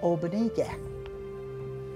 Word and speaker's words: obanige: The word for beans, obanige. Obanige. Obanige. That's kind of a fun word too, I think. Obanige. Obanige. So you run the first two syllables together, oba, and the last two together, nige.